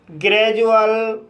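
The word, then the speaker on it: gradual: बड़े वर्ड्स में डी के बाद यू या वोवेल का कसोनेंट साउंड आए तब डी का उच्चारण ज होता है। जैसे ग्रेजुअल procedure ग्रेजुएट education individual Granger.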